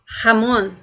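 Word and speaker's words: jamón: pedir um presunto então para pronunciar a palavra presunto você vai dizer Ramon e para pronunciar o nome de alguém de uma pessoa você vai dizer Ramon você vocês vão notar que é só a diferença do R tá porque o r em espanhol ele já é forte por natureza então Ramon eu tô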